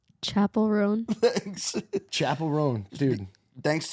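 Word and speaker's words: Chappell Roan: And look, Phyllis got us uh Chappelle Rome. Is that how you say it? Chapel Ron. Chapel Ron.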